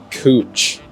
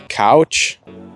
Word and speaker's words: Couch: going through Portland pronounced cooch believe it or not it looks like it says couch you might think it says couch but it's cooch and then there's a